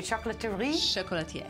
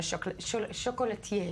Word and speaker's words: chocolatier: We are joined in studio by, how do you say, chocolaterie? Chocolatier. Chocolatier. Not even pronouncing the R at the end.